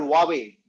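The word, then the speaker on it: Huawei: is not Apple it is a company called huawe now it is spelled as hu W eii but it is pronounced as huawe it has got 4,500 patents double the numbers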